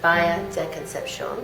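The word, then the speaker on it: Bahía de Concepción: So yeah, we're in Carla's kitchen in Baja, and it's in Baja de Concepcion, if you want to say it properly.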